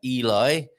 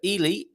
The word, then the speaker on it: Ely: than the UK and pronouncing that Eli or Ellie it's uh Ely in Cambridgeshire I believe in the